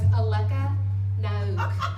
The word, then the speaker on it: Alece Nauck: walk across the stage, because it was always Alece. Nauck.